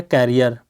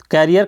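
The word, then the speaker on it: career: एक वर्ड है कैरियर। कैरियर का मतलब वाहक होता है, जो उसको ले जाता है ना, कैरी करता है। लेकिन इसको कहते हैं करियर। ध्यान देना दोनों के प्रोनाउंसिएशन में, ये कैरियर है मतलब ये कै लिख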